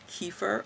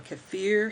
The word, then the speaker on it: kefir: improving dopamine levels um kefir or kefir however you want to pronounce it you want to you